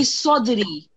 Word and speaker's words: صدري: And then li sodri. So, you're making a sin sound when it's sod.